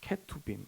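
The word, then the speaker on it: כְּרוּבִים: 말이 여러분이 그룹의 뜻은요 본래 발음이 케토빈입니다 케토빈 히브리어예요 히브리어 케토비물요 한글 번역으로 옮길 때 음역을 했는데 그거를 그룹으로 옮겼을 뿐이에요 자 그런데 그 영상을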